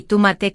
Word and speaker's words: tomate: Y ojo con la pronunciación de tomate. No digas tomate, como en inglés, di tomate con la fuerza en ma.